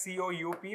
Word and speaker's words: coup: Okay, it is written as C-O-U-P, but like we read it as C-O-U, coup. Because P is silent.